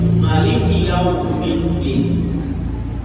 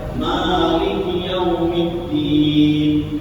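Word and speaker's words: مالك يوم الدين: Tapi kalau membaca Maliki Yaumiddin, nah maka pakai ma panjang, pakai alif, nah maka itu menjadi 156.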